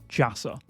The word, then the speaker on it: Jassa: Next, we have this guy, and this is an Arabic name, and it is pronounced Jassa.